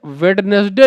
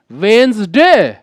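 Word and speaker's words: Wednesday: तो you must know, कह रहे भैया इसे वेडनेसडे नहीं कहते हैं, इसे हम लोग बोलते हैं वेंसडे। It's right pronunciation is वेंसडे।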